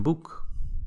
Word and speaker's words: boek: And you might say, dat is een boek. Dat is een boek. Boek, right? O-E, pronounced oo.